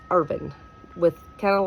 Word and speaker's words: Irvine: Um, so it's Urban with kind of like they spell it the same, but we don't put an E at the end of it when we say it.